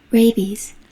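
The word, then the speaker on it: rabies: 발음이 제가 레바 아이스라고 그랬는데 그게 아니고 레이비지라고 발음하네요. 미국 영국이 다 레이비지네요. 그렇네요. 이걸 발음을 제가 틀을 알고 있었네요. 예. 발음을 한번 들어 보면 레비es 예.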